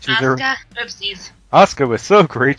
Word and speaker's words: Asuka: Oh, it's pronounced Asuka.